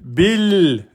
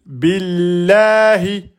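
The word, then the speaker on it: بالله: Donc ne dites pas bah bill c'est faux. C'est bil.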